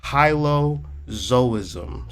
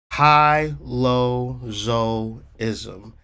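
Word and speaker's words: hylozoism: it anyway it's called Hilo zoism so how to spell that h y l o z o i s m high low zo-ism h y l o z o i s m hilozoism is a word that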